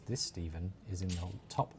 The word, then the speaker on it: Stephen: The pronunciation of my name is not Stefan. It's Stephen, and it's the Anglo-Saxon spelling of Stephen.